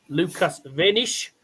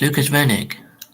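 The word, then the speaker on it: Lukas Wenig: The world 78 Lucas Vanish is going to go headtohead with Nico Springer.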